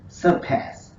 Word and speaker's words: surpass: But the next word, in the next word, the stress is on the second syllable, the pass syllable, our key pronunciation word. So it is surpass, surpass.